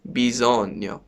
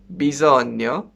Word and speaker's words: bisogno: need in italian means bison bison with this strange and cool pronunciation because when n goes after g like that it would get pronounced like new okay so bison like this and it